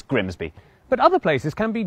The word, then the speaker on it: Grimsby: But what if we told you it was pronounced Grimmies? We'd be lying. It's Grimsby.